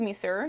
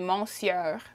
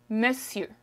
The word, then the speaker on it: monsieur: french is messi messi this spelling is very misleading in french okay the way you would read it would be monsieur but it's that is incorrect the way you say it is me sir miss you okay you want to